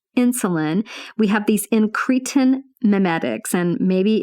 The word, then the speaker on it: incretin: I had to go look and figure out how to pronounce it. Incretin.